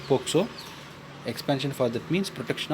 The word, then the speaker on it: POCSO: We want to pronounce that POCSO.